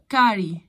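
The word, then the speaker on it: curry: أكلة عندهم بتتعمل بالبهارات، والسي الأولى دي بتتنطق بالساوند الكي.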